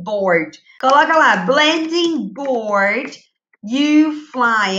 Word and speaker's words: UFLI: Coloca lá, blending board, you fly. É assim que pronuncia, tá? U-F-L-I.